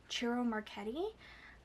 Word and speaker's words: Ciro Marchetti: The artist is Ciro Marchetti. That is the correct way to pronounce it, in case you were curious about my pronunciation.